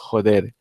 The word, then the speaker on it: joder: In Spanish, the F would be would be exchanged for an. It's written with F, but it's read as a H. Joder.